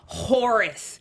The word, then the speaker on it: Horus: mean Horus Gilder show up first of all Horus you got to say it like that Horus